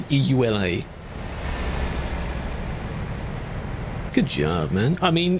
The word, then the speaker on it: EULA: I don't say it like uler. The eula.